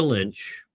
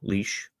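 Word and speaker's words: Lich: In 2022, Tamara Lynch or I pronounced your name wrong. Leash and Chris Barber organized a peaceful protest in Ottawa against the plague mandates.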